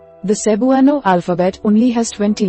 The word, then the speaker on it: Cebuano: For example, the word Cebuano has 4 syllables, Cebuano. Because native speakers often say their words more quickly, it may sound like Cbwah but remember, all vowels are pronounced separately.